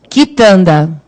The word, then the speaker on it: quitanda: Quitanda. Olha lá, o U não tem som, né? É o som do K mesmo. Quitanda.